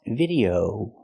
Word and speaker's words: video: is not pronounced video It's pronounced video O The Last Vow is a long o like no and go o video not video but video make the long o sound example I recently posted a video